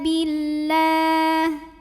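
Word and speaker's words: بالله: Wa kafa billah. Lam pada lafaz Allah dibunyikan secara tarqiq sebab huruf sebelumnya berbaris kasrah yaitu huruf ba. Maka dibacanya tipis. Lah pangkal lidah tidak perlu naik.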